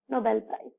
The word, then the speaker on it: Nobel Prize: So we generally in a flow recite as Nobel Prize. No, children, it is very wrong. So we should pronounce it as Nobel Prize. Nobel Prize. See here, the B is being stressed.